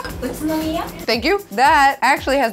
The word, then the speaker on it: Utsunomiya: There's a city that I don't know how to pronounce called Utsunomiya. Utsunomiya.